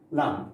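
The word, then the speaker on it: lampe: Now, the first word, lam, we don't pronounce E, okay? So we say la, okay?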